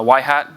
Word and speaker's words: Yhat: work at in the Engineering Group at uh why Hat by day um it's pronounced why hat not y not why hat